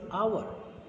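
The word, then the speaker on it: hour: द H word is a consonant letter, but pronunciation of this word is our, our, so that's why we use an here.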